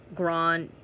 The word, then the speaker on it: Grande: Patricia Day Ozza, Ariana's surname pronunciation is Grande.